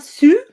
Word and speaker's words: Sioux: Lakota Sioux. That's how you Yeah. pronounce it, like Sioux.